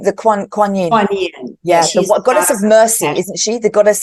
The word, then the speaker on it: Kuan Yin: The Kuan Yin.